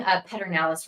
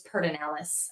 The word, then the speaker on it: Pedernales: Yes, I'm pronouncing Pedernales wrong. It's Pedernales.